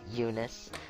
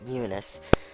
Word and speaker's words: Eunice: girl is Eunice again that's how you pronounce her name Eunice not EU this new nice Eunice because that apparently that e is silent uh there's going to